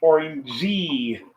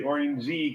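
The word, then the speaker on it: 오렌지: So the Korean word for orange is actually orangey. They'll say orangey because they pronounce the silent E.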